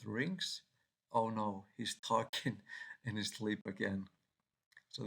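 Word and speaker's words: Tolkien: the Lord of the Rings oh no he's talking in his sleep again so this is about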